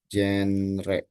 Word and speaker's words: genre: We say that with this genre. What is genre? In Jenis. jenis, very good. In English, we call it genre. Nulisnya genre, tapi dibacanya genre. Genre, genre. Gitu ya, bacanya genre. Genre ada banyak banget genre.